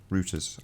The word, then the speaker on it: Reuters: Reuters, Arwin. Reuters, really? Yeah, Reuters. I think it's Reuters pronounced here, but I think the Americans pronounce it Reuters.